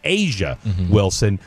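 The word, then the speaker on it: A'ja Wilson: It's Asia Wilson. I pronounce it like I thought it was spelled.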